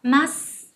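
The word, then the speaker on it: ます: Nhưng mà các bạn đừng đọc rõ chữ sư nhé, đây thành âm gió, chúng ta sẽ đọc là masu.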